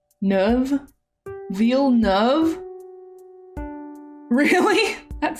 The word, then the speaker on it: Neuve: Neuve. U is pronounced kind of like ugh. Just like Neuve.